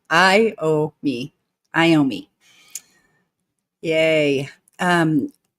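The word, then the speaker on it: Iommi: educating me on how to say his name I ow me I owe me yay um vman is saying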